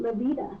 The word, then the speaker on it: La Veta: It's actually, the vein, which is La Veta, and now we pronounce it La Vida.